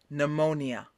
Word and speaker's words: pneumonia: let's get into some of them shall we pneumonia repeat mo and what is pneumonia pneumonia is